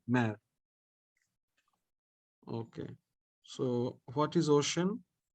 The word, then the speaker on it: océan: Okay, so what is ocean? How to pronounce this? There is acute accent, accent aigu over E. So this E sounds like A.